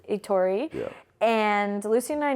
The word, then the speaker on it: Etori: here how do you say your last name itori itori yeah and Lucen and I know each other